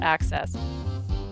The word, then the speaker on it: Aksys: but they are not made by Aki access access I got to write that down pronounced access you need to play